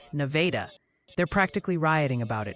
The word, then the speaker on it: Nevada: It seems Nevada, Missouri is pronounced more like Nevada.